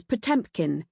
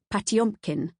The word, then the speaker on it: Potemkin: The subject of this book is pmpkin even though in Russian the pronunciation is closer to patumpkin.